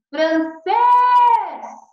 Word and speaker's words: francês: A sílaba tônica do francês, qual que é? É o fran ou é o cês? Isso mesmo, é o francês. Qual que é? Cês. Então eu falo assim, francês.